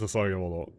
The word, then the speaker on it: 捧げ物: So it is pronounced Sasagemono.